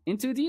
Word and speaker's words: IN2D: Okay, in 2D is cool. Let's uh let us know if you agree about in 2D. IntoD is like in 2D. Three syllables is too much.